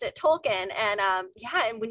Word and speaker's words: Tolkien: question but if you're not a huge like tolkien fan or you just like really enjoy the